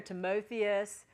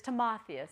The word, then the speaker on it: Timotheus: it so toas to a lot of times you hear timotheus we just don't squabble about the exact sound it's just too much time for nothing but it's timotheus and that's Timothy so